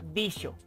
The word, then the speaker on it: dijo: Por ejemplo, el sonido de la letra J no existía en el siglo XV, por lo que una palabra como el verbo dijo se pronunciaba dicho y se escribía con X.